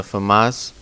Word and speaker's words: FAMAS: It's pretty much has almost the same exact stats as the FAMAS, or FAMA, because I think it's French. I think that's how it's pronounced, but I don't take French classes.